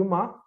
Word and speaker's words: Om: Então, o A, o U e o Ma vão formar o Om. Os três anteriores não existem dissociados, e formam um quarto. Esse quarto é o Om, né?